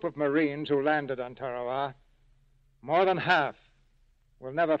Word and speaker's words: Tarawa: Ladies and gentlemen, there's a tiny island in the mid-Pacific called Tarawa. That pronunciation, incidentally, is from the National Geographic Society.